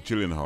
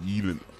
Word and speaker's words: Gyllenhaal: Maggie Gyllenhaal. I think that can work. Well, that'll work well, yeah. Maggie Gyllenhaal, or Gyllenhaal, that's how it's actually pronounced. I think that's how it's pronounced. It's a Swedish name.